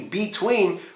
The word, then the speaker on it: between: What could you schwa here in between? Well, it's the first syllable because it's not actually between. We say between.